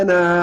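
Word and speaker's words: أنا: انا انا عابد ولا انا عابد ما عبدتم ان شاء الله نعدها مع بعض ان شاء الله ولا انا عابد ما عبدتم ولا انا عابد لا تنطق الالف ولا انا ولا ولا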